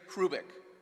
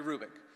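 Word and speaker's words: Hrubec: b e c terry krubik the h is not pronounced terry rubick she did studies of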